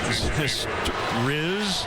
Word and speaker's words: Zastryzny: We got the Rob Zastryzny pronunciation guide from one of our followers on Twitter. Zastryzny.